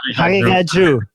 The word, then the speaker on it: Haqiqatjou: It can be pronounced. I can do Haqiqatjou.